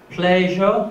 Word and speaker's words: pleasure: like she this way so the main difference is the lip rounding so when you pronounce uh these consonants you have to round your lips okay so pleasure pleasure is pronounced as